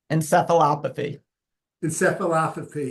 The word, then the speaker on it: Encephalopathy: Dr MZ if you could do the exact pronunciation because I always have a hard time it's called chronic traumatic and copy in seaphy yeah and this has been um in the